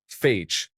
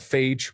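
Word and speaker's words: Fage: There is a yogurt called phage, but I thought the E was silent, so I was saying the word that you shouldn't say. Everyone told me I was wrong, but it wasn't until I saw a commercial that I was proven wrong. It is pronounced kind of like phase.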